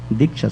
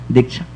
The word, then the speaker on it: Diksha: Initiation means Diksha, Sanskrit word that is called Diksha. Diksha, the two syllables, Di and Cha.